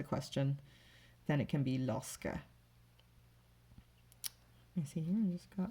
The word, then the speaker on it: lorsque: Lorsque, so this one and the last one both had a Q to make the k sound, and both of them had QU actually.